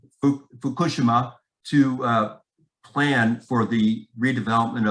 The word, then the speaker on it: Fukushima: I was invited to Fukushima, is how the Japanese pronounce it, not Fukushima, so it's hard to say it. Fukushima, to plan for the redevelopment of the economy after the triple disaster of 2011.